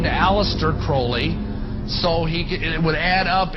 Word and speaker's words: Crowley: about with Alistair Crawley he likes to have his name pronounced Crowley to rhyme with holy and the satanists today